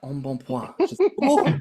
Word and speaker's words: embonpoint: you all are aware, that is pronounced embonpoint, which is perhaps plump in French. Means plump. And it's got to be one of the most fabulous ways of describing a fat bitch, like embonpoint.